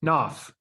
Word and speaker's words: Knopf: Knopf. Knopf. Okay. Knopf. Knopf. Yeah. 40% is silent.